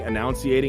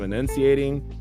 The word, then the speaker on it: enunciating: mispronouncing words and like I was saying annunciating instead of enunciating I was just I